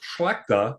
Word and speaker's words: Schlechta: Schlechta. Pretty close. Schlechta? Yep. That's a cool name. What's the ancestry of that? So actually, the original name was pronounced Schlechta, and it was spelled totally different.